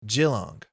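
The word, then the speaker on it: Geelong: the districts this week is pronounced jilong not a hard J not a hard G I'm good with soft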